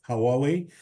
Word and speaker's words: Huawei: Nigeria offer offers and that is hawei I can never pronounce that company properly I'm sorry but it's Huawei now um just six or